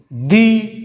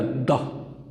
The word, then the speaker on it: the: Pronounce होगा, दी या द? दी अगर किसी ऐसे लफ्ज़ से पहले आ जाए जो कि किसी वावल से शुरू हो रहा हो तो ये प्रोनाउंस होगा दी, जिस तरह दी एप्पल, दी अर्थ।